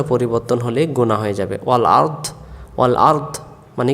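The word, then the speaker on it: وَالْأَرْض: ওসিহ সামাওতি ওর হ্যা আরদা আমরা অনেকে পড়ি ও আরদা আরদা আরদা পড়লে ভুল হয়ে যাবে আরদ এটা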